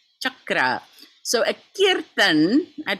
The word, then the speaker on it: chakra: Some of you might have seen my Facebook thread about the word chakra versus chakra. No such thing. Chakra.